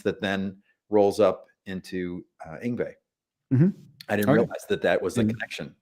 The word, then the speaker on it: Yngwie: The same way he feels every time I try to pronounce Malmsteen's first name. Yeah. Yngwie. Yngwie. Yng. Yng. Yngwie.